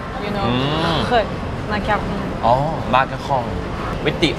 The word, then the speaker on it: macaron: Croissant Okay Croissant นะครับ Macaron Macaron Macaron Yes Once again it's the French R you know Macaron Oh Macaron with the R okay.